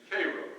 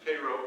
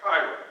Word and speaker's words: Cairo: The little town I grew up in, by the way, was named Cairo, as in Cairo, Illinois, and the uninitiated would pronounce that Cairo.